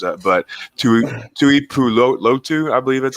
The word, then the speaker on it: Tuipulotu: Even Marlon, I always screw these names up, but Tuipulotu, I believe that's how you pronounce it. Yeah, Tuipulotu, like him, I'm pretty surprised he's still there as well.